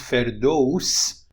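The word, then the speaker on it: فردوس: Afghanistan and Tajikistan but in Iran is pronounced feros which would be a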